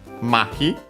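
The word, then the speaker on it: 麻痺: can take next uh mahi which is uh a compound uh technically a Chinese a Chinese compound should be yes accent on the first uh syllable.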